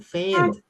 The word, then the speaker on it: faint: Pain bro, bukan pain, faint.